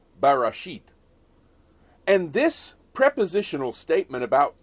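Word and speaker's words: בראשית: But these words are translated from a single Hebrew word that is pronounced barashit.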